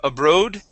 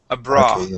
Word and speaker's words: abroad: and let's go to we have abroad so instead of abroad abroad abroad abroad abroad and could